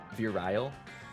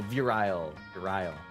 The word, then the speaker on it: virile: summer uh fear real fearile oh virile that word and I had a I guess mispronounced earlier or virial virile